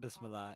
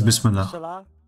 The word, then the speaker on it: Bismillah: Is it Bismillah? Not Bismillah. It is Bismillah.